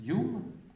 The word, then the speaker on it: Home: Par exemple, vous avez un un écos s'appelait Daniel Dunglas Yum. Ça s'écrit home mais ça you qui lui n'était